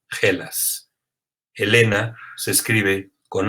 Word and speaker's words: Hellas: tiene la nación griega, el nombre se escribe con H, E, L, A, S y se pronuncia Hellas.